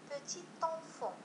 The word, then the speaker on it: petit enfant: مثال بوتي انفون، اذا بوتي ينتهي بالتي لكنه لا ينطق، أنفون يبدأ بفويل كما ترون هنا، يبدأ بفويل. إذا عندما أريد أن أقوم بلاليزون سوف أقول petit enfant، petit enfant، يعني أن الحرف الذي لم يكن ينطق الآن أصبح منطوقا، petit enfant، petit enfant.